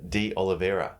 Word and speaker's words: De Oliveira: I'm going to get your name wrong. We're here with MPT REBUILD Success Story and client, Phil D. Oliveira.